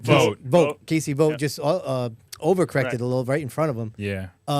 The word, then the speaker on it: Vogt: Vogt.